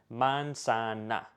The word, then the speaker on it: manzana: So if you've got a word like apple, manzana, every single A in this sentence is going to be pronounced like A, manzana.